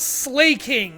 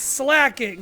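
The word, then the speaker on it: Slaking: It's cuz he slacks off and he's a king. It's not slaying, it's slacking.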